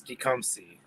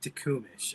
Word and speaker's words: Tecumseh: one where the one town that he butchered was Tecumseh he said to kumish and I can't I